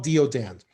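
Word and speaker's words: deodand: what is it again it's called law of deodon and it is spelled uh d like david e like echo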